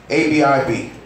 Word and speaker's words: Abib: ABIB.